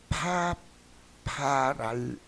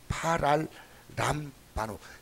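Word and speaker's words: παραλαμβάνω: 그러니까 그 원어의 발음 뭐냐면 파랄람바노. 말이 좀 복잡합니다. 파랄람바노.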